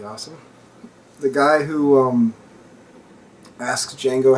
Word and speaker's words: Django: The guy who asks Django how his name is spelled, and then when he says the D is silent, the guy says, I know.